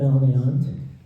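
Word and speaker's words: Malnéant: Um, but the the story is A Night in Melant. That's how you pronounce it.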